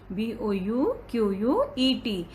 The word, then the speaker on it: bouquet: B-O-U-Q-U-E-T. Here T is silence. We will not pronounce T.